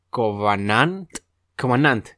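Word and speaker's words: Khovananth: es que a ver es una K una H una o una a w una a una n a n t h se pronuncia covan cant de la familia covan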